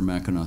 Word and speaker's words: Mackinac: though the name of mackinac point is spelled m-a-c-k-i-n-a-c it's pronounced mackinac yeah right uh mac i used